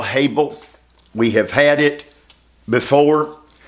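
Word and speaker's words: hebel: only place to begin is the word vanity Hab let me spell it for you h e b e l Hab we have had it before uh the word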